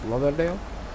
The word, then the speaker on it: Lauderdale: There you can see Fort Lauderdale, or Lauderdale. I pronunciate it as Lauderdale.